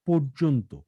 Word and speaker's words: পর্যন্ত: ২০০৭ সালের আগস্ট থেকে অক্টোবর পর্যন্ত মিয়ানমারে পর্যন্ত না, সামরিক উচ্চারণটা হবে পর্যন্ত। ওকার। হ্যাঁ, পর্যন্ত।